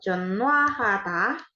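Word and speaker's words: 전화하다: yang pertama itu tulisannya ada huruf j eo n h wa ha dan da betul jonwata itu artinya menelepon menelepon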